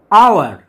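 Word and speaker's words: hour: আওয়ার, আওয়ার, এখানে এইচ এর উচ্চারণটা সাইলেন্ট, সেই জন্য আওয়ারের আগে এন বসেছে।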